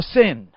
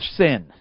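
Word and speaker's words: Seine: over it's on the sin the sin I learned that's how you say it yeah it's spread everywhere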